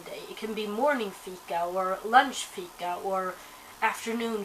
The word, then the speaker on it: fika: And the Swedish word of the day today is fika, which is spelled F-I-K-A. So it's pronounced fika.